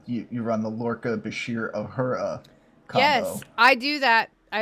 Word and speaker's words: Uhura: No, Uhura. What? Uhura.